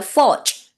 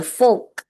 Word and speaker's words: forge: tương đối rõ ràng, chỉ có một cái từ là forge. Forge, nó là từ đấy, không phải là fork, kiểu hơi nhỏ như của mình ấy.